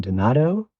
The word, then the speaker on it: Donato: Donato. 1, 2, 3. Donato. Everybody but that one. Donato.